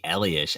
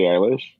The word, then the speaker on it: Eilish: then same thing for like billy ellis i didn't know who the freak that was for the longest billy eilish eilish there you go let's see i don't